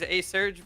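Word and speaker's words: ASurge: It is A-Surge, but it's okay. The TO of this whole tournament pronounces it wrong intentionally every time I've ever spoken to him.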